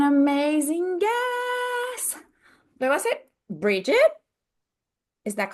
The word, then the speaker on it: Bridgette: Bridget?